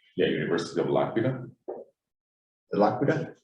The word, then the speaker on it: L'Aquila: I'm going to mispronounce the university, so I'm going to let you say it, right? Yeah, University of L'Aquila. L'Aquila? L'Aquila, yes.